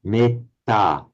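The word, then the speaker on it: mettā: with a long e, metta. In Pali, it's pronounced short, metta, which would not be permitted in Sanskrit.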